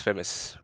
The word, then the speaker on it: Famouz: it famous or is it like a different pronunciation it's famous it's famous so yeah so where is the Z just